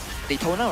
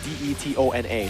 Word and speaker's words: Detona: is deta and it's it's like it's spelled d e t o n a so it's detona it's not daytona detona detona